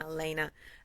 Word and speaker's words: Elena: boom my soul sister lyanna elena elena not lyanna elena showed up sorry to